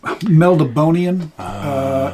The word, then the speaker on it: Melniboné: I pronounce it Melniboné. Meldibonian is how other people pronounce it.